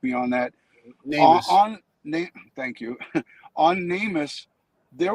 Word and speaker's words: NamUs: There's information that was released on the Namus or Namus, however it's pronounced. Ed, you can probably correct me on that. Namus.